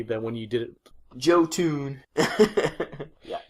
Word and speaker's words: Jotun: Jotun. Yeah, Jotun.